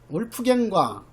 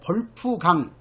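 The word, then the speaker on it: Wolfgang: 그 다음에 이제 울프갱과 울프갱, 이것도 어떤 교재에 보면은 이것을 그 독일식으로 발음해 가지고 볼프강 이렇게 또 번역해 놓은 책도 있어요.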